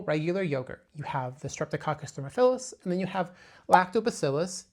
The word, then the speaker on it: Streptococcus thermophilus: to touch on the Streptococcus thermophilus. Pay attention to the way that is pronounced. It is thermo, which is heat, philus meaning it loves that.